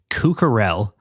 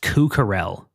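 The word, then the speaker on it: Kuk Harrell: Written by Jay-Z, Cucarell. I fucked up his name. It's not Cuck. It's K-U-K is how it's spelled. It's apparently pronounced Cucarell.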